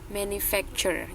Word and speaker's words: manufacture: Manufacture. Jadi yang T-nya itu, turenya itu dibacanya jadi ceh, ada ceh-cehnya.